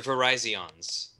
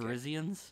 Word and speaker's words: Verizon: You need to expand your Verizons. My Okay. Verizians? For Google. No. The actual pronunciation is Verizon.